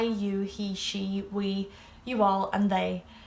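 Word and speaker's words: sé: say you, tu, he, she, which can also be used for it. She is she, but of course it's spelled differently than English.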